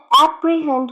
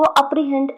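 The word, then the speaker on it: apprehend: बच्चों बहुत सारे मैंने बच्चों को से देखा है एप्रीहेंड को अप्रीहेंड अप्रीहेंड बोलते हैं। इट्स नॉट अप्रीहेंड, इट्स एप्रीहेंड। Okay, एप्रीहेंड, एप्रीहेंड, एप्रीहेंड, नॉट अप्रीहेंड। Okay, इसका सही उच्चारण है एप्रीहेंड।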